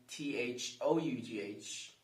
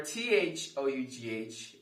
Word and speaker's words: though: are spelled t-h-r-o-u-g-h and t-h-o-u-g-h would you like to try and guess how they are pronounced okay here we go for t-h-r-o-u-g-h it's pronounced through through for t-h-o-u-g-h it's pronounced though though so cough rough bow through